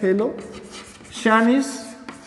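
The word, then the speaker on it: Phthalocyanine: इसी तरीके से थैलोसाइनेसिस, पी यहाँ पर साइलेंट आएगा, थैलो शानिस, इस तरीके से ये स्पेलिंग है, इस स्पेलिंग को याद कर लें।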